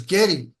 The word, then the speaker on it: Geddy: But the way his mom pronounced it was Getty. Getty. Getty. Getty. Like Jerry but Getty.